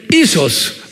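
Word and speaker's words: ἴσος: 휴이오스, 그 다음에 이소스. 발음 한번 해보세요.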